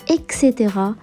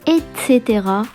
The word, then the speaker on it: et cetera: l'écrit et à l'oral plusieurs le prononce excédera alors que c'est mal prononcé on dit bien et cetera avec le centre avancé